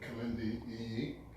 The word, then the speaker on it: Kilindi Iyi: Kilindi Iyi.